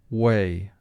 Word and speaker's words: whey: Now, when I say way, almost everyone's going to think of the spelling W-A-Y, like which way do I go? But this word whey refers to a byproduct when they make cheese, and it's spelled in this manner.